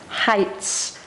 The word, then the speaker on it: heights: spread the spirits so heights it's connected with high even though it's spelt differently with this e i it's pronounced high heights on s heights